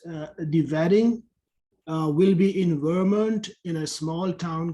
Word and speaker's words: Vermont: Okay, so this one I mean, maybe you will not even need this, but we put the stress on the second part of Vermont, the state. It's called Vermont. And when we say Wednesday, we kind of cross out the D.